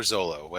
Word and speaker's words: Zoro: Zoro. Zoro. Roronoa Zoro. Or Zolo, however, depending on. Yeah. I forget how they pronounce it in this one. There's been dubs that treat it differently.